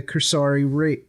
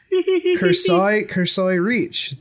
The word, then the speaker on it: Cursori Reach: dead world in the Cursori Reach. That is not how that's pronounced. Cursoi Reach.